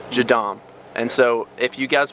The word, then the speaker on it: JADAM: stuff all natural so that's how would you spell that j a d a m jadom and so if you guys want to look